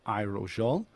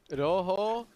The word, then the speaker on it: Rojo: It's Abyssal, Rojo, and Verde. So it's all good.